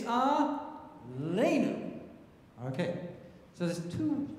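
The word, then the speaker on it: עלינו: all know the prayer Al right so that word ALU is it's not Al it's a lenu okay so there's two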